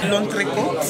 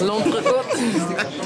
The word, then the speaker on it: L'entrecôte: Wait, what can you de pronounce Paris? It for us? L'entrecôte. L'entrecôte.